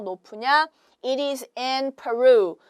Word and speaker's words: Peru: It is in Peru. 우리는 페루라고 하지만 Peru라고 영어로는 발음을 하시면 되겠어요.